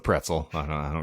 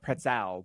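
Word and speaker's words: Pretzal: p-r-e-t-z-a-l no it's the pretzel it is the pretzel but but it's spelled pretzel but I think everyone just calls it the Crystal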